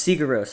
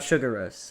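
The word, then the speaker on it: Sigur Rós: It's Sigaros, not Sugaros.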